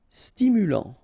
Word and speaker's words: stimulant: Stimulant, final T not pronounced, stimulant, stimulant.